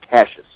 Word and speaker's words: Cassius: one and only cash clay muhammad ali it's cassius cassius okay well i i sincerely apologize for mispronouncing your first name usually i mispronounce your